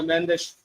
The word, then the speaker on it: Mendes: Back with Nuno Mendes though. And in Portuguese, it's pronounced Mendes, not Mendes.